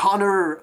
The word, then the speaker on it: honor: Il y a cette Battle Without Honor, honor, pardon, on prononce pas le H.